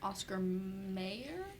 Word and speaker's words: Oscar Mayer: m-e-y-e-r so it's like Oscar Mayer um so how do we pronounce it I don't know Oscar my Meyer you would think you would pronounce it mayor but I feel like everyone says Meyer and that's why yeah